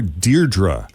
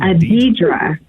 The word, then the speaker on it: Deidre: Do you pronounce it Deidre or Deirdre? It's spelled Deidre.